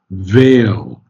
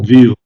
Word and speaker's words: veil: have to get this veil, not Oh, veal. wait. Veal is meat, huh? Veil is the cover. Yeah. Veil, ale. If Yeah. something is Yeah. ailing you, it's Yeah. pronounced just like ale.